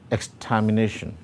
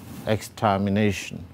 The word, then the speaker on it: extermination: we take the word extermination extermination and break that up into syllables that combine to form it we get the following so it has five syllables now in these exams